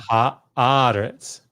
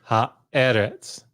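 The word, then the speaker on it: הָאָרֶץ: Ha aretz, not ha eretz, right? Right. And this is because it has that metheg in Genesis 1. And notice that it will color, sorry, that's not why. This is compensatory lengthening. That's why that's there. But yeah, that's what's going on here. Ha'aretz, as opposed to ha'eretz.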